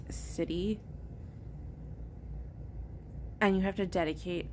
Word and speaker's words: siddhi: being a siddhi, which siddhi is spelled S-I-D-I, not C-I-T-Y. It's siddhi.